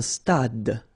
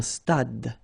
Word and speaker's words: stade: Un stade. Same thing here. Final E is not pronounced. Un stade.